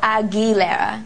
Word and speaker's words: Aguilera: surname correct is it agilera is it agilera um think of it as AG gou e so agilera agilera yes oh good good